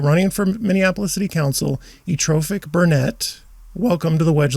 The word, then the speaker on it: Ethrophic: Ethrophic Burnett. Ethrophic. Yes. So I'm not pronouncing the TH sound. Correct. It's Okay. ethrophic. Ethrophic. That's easy. It's just the TH.